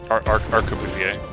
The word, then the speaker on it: arquebusier: Arquebusier.